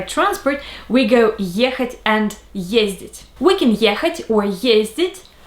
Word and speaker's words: ездить: And these are the forms for the verb ездить. Я езжу, ты ездишь, он, она, оно ездит, мы ездим, вы ездите, они ездят. The stress is always on the first syllable, and it's easy to